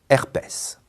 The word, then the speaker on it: herpès: mots invariables après auprès attention certains mots font exception et se prononcent S c'est le cas de faciès cacatoès palmarès herpès une autre fonction très